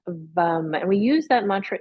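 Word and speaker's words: वं: Just breathe here, work with the Bija mantra of VUM, V-A-M, pronounced VUM.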